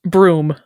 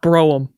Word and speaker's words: Brougham: a m Brew brew can be pronounced broom can more rarely be pronounced broam see I would see